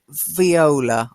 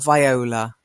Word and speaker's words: viola: And viola or viola. So violin, viola, viola. The same is, I can pronounce viola and viola is both are correct. I've heard both.